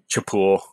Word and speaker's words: Chapul: hard cha uh uh you know what a chapul um is chapul was the first company that's the food company